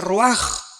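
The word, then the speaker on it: רוח: Se pronuncia roaj. Por ejemplo, cuando hablamos del Espíritu Santo, el Espíritu Santo es roaj, el cadosh.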